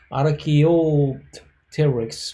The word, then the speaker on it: Archaeopteryx: is that uh archaeopteryx in actually specific latin way of a pronunciation is around rk archaeol terrex but the english influence usually people pronounce this is something archaeopteryx meaning simply ancient feather